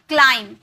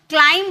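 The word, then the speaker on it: climb: नहीं thumb okay thumb अंगूठा क्लाइम। क्लाइंब बोलते। क्लाइंब नहीं बोलते।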